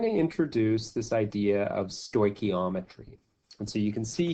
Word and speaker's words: stoichiometry: and we're going to introduce this idea of stoichiometry and so you can see here that I've I've spelled it out phonetically stoichiometry stoichiometry and this is an important concept that